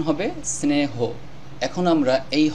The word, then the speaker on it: স্নেহ: ছিল দন্তস্য ন স্ন এখন যেহেতু এককার এসেছে এখন হবে স্নেহ তারপরে হ স্নেহ এই শব্দটির সঠিক উচ্চারণ হবে স্নেহ এখন আমরা এই হ